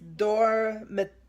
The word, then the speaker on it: dormitorios: It's dormitorios. Torios. That's it. Yeah. You gotta pronounce the I and the O. Don't leave them out.